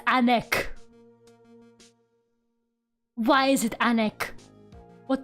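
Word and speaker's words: ànec: Yes, anek. It's spelled A-N-E-C. Anek.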